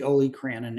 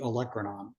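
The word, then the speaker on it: olecranon: So it's not the olranon, it's the electronon.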